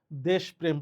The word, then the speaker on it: দেশপ্রেম: দেশপ্রেম শব্দের সঠিক উচ্চারণ কোনটি? নরমালি আমরা পড়ার সময় দেশপ্রেম পড়ি।